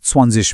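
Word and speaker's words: zwanzig: और आखिर में शब्द के एंड में जो आई जी आता है उसकी आवाज होती है इश्क जैसी जैसे स्वंजिश में।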